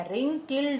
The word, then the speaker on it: wrinkled: WRINKLED. R is silent. దీని రింకిల్డ్ అంటారు.